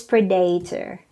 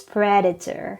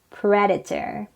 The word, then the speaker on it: predator: is not pronounced as predator or predator it is pronounced as predator stresses on the first syllable okay again predator great next word is